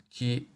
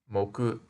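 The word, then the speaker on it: 木: sort of looks like a conifer it is pronounced Ki by itself and moku in compounds then if we add a small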